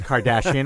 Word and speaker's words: Kardashian: sexist Kardashian Kardashian kashian I know it's Kardashian I said it wrong I was going to